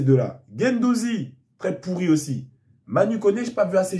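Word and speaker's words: Manu Koné: Milieu, Kamavinga, Gendouzi, Manu Kone. Mani Kone. Faut prononcer comme ça.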